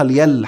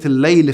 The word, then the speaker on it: الليل: هواش فاهم هو ايه، ويقول لك الليلة اصلها اليل، حتى مش عارف ينطقها كمان، والسماوات السموت، وكلام تخريف للأسف الشديد. يعني حتى اصلا كلمة الليل في القرآن كله من اول صفحة لاخر صفحة بتتكتب الف لام عليها شدة ياء لا، الليل والنهار، الليل والنهار، يل ايه بقى؟